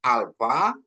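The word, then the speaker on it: άλφα: Jadi dia F ya. Alfa. Kenapa dia dibuat PH? Karena dia mengikuti dari barat gitu ya. Jadi PH gitu ya. Jadi kalau di sana bacanya F ya, Fanta untuk kata Fanta, alfa gitu ya.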